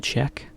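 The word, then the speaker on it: cheque: case they're still popular in Japan as a check it's spelled slightly differently c h e quu e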